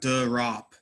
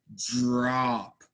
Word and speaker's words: drop: Like, so it's not durop, right? It's not a D sound. It's a J sound.